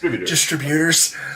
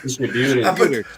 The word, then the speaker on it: distributors: Distributors. Why? Distributors. I put the wrong emphasis on the wrong syllable.